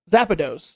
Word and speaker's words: Zapdos: That's how you pronounce it. Zapdos or Zapdos.